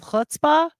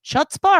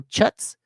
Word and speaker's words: chutzpah: Is it chutzpah or chutzpah? I know what it is, but it is funny to spell it with a C and watch people go chutz.